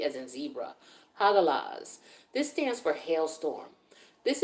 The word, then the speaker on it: Hagalaz: Hagalaz.